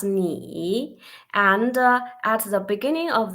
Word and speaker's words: 你: About this one, 你 the Chinese pinyin, we pronounce ni, and at the beginning of this consonant initial, we call this initial at the beginning of the syllable, yeah?